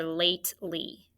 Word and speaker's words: lately: vowel dash e so i put my macron over the long a crossed off the silent e and circled l y lately notice however i want